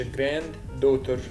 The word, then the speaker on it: granddaughter: بقول father girl girl granddaughter granddaughter مش هفصلها فاقول مش granddaughter اخد دي واحدة بس فاقول granddaughter يعني في دي بشيلها خالص كده مش موجودة الحين الكلمتين في بعض دو granddaughter اللي هي افيدة grandfather